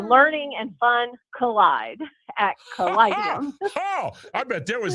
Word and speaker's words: Callidium: Leanne, I have now for a couple years said caladium, but you said callidium. So is it an I there in that second syllable? Yes, it's an I.